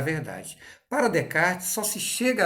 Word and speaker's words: Descartes: Descartes é aquele que a gente escreve Descartes. Lembra, meninos? Descartes. é a pronúncia correta.